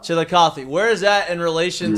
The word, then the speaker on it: Chillicothe: How do you pronounce it? Chillicothe. Chillicothe.